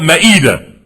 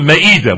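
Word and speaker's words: مائدة: American Muslims call it ma'idah. We call it Ma'idah. We mispronounce it. But it's called Ma'idah. Like Surah Ma'idah.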